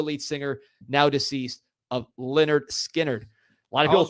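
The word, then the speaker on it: Lynyrd Skynyrd: lead singer former lead singer now deceased of Leonard skinnard a lot of I was wondering how you pronounce that it's pronounced Leonard skinnard the the debut album is is what this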